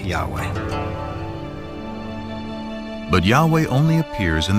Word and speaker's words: Yahweh: and his name was these four letters which in English would be y-h-w-h which we think were probably pronounced something like Yahweh but Yahweh only appears